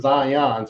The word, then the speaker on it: Zion: It was Zion. So that's, you know, two syllables.